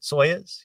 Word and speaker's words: Soyuz: During that 72 launch, the upper stage of the Soyuz rocket booster, I think that's how you pronounce it, Soyuz.